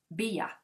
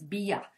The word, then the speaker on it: Bea: So Bea, that's how you pronounce her name. That's what my subscriber said. It's Bea. So not B, because I used to call her B.